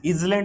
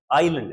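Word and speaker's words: island: हुई जगह आइलैंड है इलैट नहीं है इसका उच्चारण इलैट नहीं है ध्यान रखना आइलैंड है आइलैंड तो दो आइलैंड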